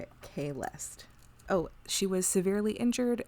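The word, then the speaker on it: Kahlest: Man, I'm spelling it how they read it in the thing, which is not how it's said phonetically. So I'm gonna Kalest.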